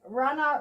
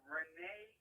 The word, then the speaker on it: Rene: to pronounce this correctly Rana Rodriguez is that right so no it's a Renee Rodriguez do you know what